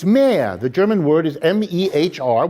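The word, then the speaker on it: mehr: more than they themselves consume in german it's mere the german word is m-e-h-r which means more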